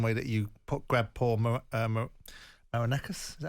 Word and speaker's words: Marinakis: in the same way that you grab poor Marinakis, is that how you pronounce it? Marinakis, yeah.